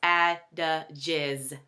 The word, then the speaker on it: adages: So please correct me or please forgive me if I did say adjectives by mistake, but it is pronounced adages.